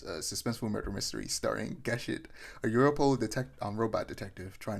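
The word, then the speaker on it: Gesicht: I was going to say Geshit, but for some reason I said gay shit. But anyway, Pluto reinterprets that Astro Boy arc as a suspenseful murder mystery starring Geshit, a Europol robot detective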